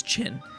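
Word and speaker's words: Qin: a Chinese War for is it chin I think someone told me to pronounce it as chin so uh they're also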